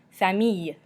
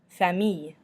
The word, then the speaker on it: famille: Famille. Famille. So this has just got an E at the end, which is not pronounced, so you just end with that Y sound.